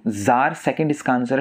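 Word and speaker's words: czar: ज़ार Russia के शासकों को कहा जाता था, एक तरह से रशिया का राजा बोल सकते हैं आप ज़ार को, ठीक है। सी इसमें साइलेंट होता है, तो यही मस्कुलिन जेंडर का वर्ड है।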